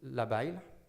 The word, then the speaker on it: labile: So it's labile.